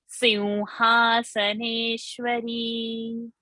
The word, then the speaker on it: सिंहासनेश्वरी: Sin, don't say Sim, say Simhasaneshwari.